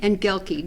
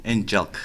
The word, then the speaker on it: Engelke: His name is Ronny Engelke. Did I say it right? Engelke.